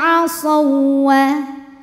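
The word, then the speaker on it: عصوا: Nah ini asawwa hukumnya adalah idgham mutamatsilain karena waw sukun bertemu dengan waw berharokat. Huruf yang sama persis, makhraj dan sifatnya bertemu, maka dibacanya dimasukkan ke waw kedua. Ini lebur ya. Asaw, jadi kita baca seperti waw tasydid biasa.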